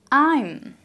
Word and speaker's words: I'm: I'm. So you actually pronounce it as if it's I am. I and M together, I'm. Without an A.